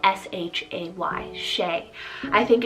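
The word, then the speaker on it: Shay: boy i love the name shea spell s-h-a-y shea i think it's so sweet and very timeless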